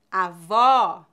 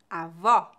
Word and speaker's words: avó: que isso quer dizer quando pronunciamos o aberto devemos abrir mais a boca avó bola quando pronunciamos o